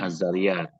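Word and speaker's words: Az-Zariyat: yang kedua anu aja Al ya Al zariah Tapi bacanya azzariah pakai Al alhujarat alzariat alz Al Tapi bacanya azzariat Ya tulisannya begitu kalau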